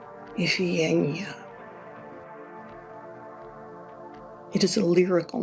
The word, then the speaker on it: Iphigenia: To say her name in modern Greek, I have to breathe. Iphigenia. It is a lyrical name, a musical name. Iphigenia.